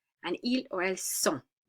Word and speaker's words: sont: And ils or elles sont, don't pronounce the T. And you make the O kind of nasalized.